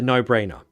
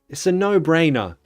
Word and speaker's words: no-brainer: now it's a no-brainer how do you say it you don't just say oh well going to England was a no-brainer for me you need to you need to feel it I mean it's a no-brainer it's a no-brainer no-brainer two levels of stress no brainer it's a